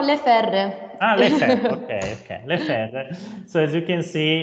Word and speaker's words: Le Ferre: to present his company le faire okay yeah okay is in french pronunciation no no le ferde so as you can